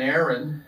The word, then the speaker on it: Éireann: of this arp is called an aaron uh and it's spelled e-i-r-e-a-n-n actually it should be kushner aaron